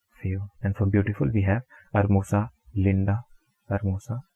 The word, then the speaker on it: hermosa: And for beautiful we have hermosa, linda, hermosa, H-E-R-M-O-S-A. But we know that H is everywhere silent in Spanish, so we are going to pronounce it as hermosa.